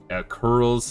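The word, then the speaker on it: Coeurls: Sounds like there's new Yeah, we got the curls apparently is how it's pronounced by the the voice acting.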